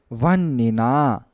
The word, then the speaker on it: वह्निना: यहाँ पर हा आधा रहेगा और जो ना है उसमें छोटा ई की मात्रा के साथ पूरा रहेगा, तो उच्चारण हो जाएगा वह्निना, गृहे।